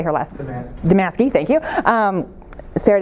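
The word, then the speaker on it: Damaske: actually don't know how to say her last damask II thank you Sarah damask ease qualitative book that looks at this wide distribution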